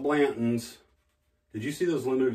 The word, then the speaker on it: Blanton's: Now, everybody talks about Blanton. I gotta have me a horsey. It's spelled Blanton's.